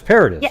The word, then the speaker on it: Paradis: I think at first I was saying like that. Paradise, but then I think I've been saying it right lately, right? Paradis. I've worked on shows before where they've gone with Paradise, so I'll take whatever pronunciation that you want.